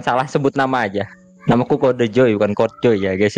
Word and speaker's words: Kode Joy: Sausnya jadi bacanya Kode Joy, bukan Code Joy seperti itu.